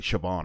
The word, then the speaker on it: Siobhan: Simone or like it's it's spelled like Seoban and it means like Siobhan or something.